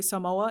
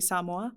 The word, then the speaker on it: Samoa: that he says it, because most people say Samoa. It's actually Samoa. I didn't know that. Samoa? Samoa. What is so that? Accent on the sa, so Samoa.